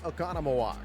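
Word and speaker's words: Oconomowoc: The 31-year-old from Economaw, Wisconsin. Yes, I can say Okonamaw. I assure you I butchered it terribly in the first days of Dylan's major league career.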